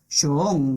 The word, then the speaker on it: Jung: He hablado de algún parapsicólogo y grafólogo Jung, que habría que pronunciar como Shung, porque lo escribe con doble O.